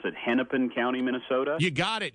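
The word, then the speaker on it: Hennepin: like Ramsey County and a place I might mispronounce it hennipen County Minnesota you got it you nailed it henpen you nailed it yeah and they it's up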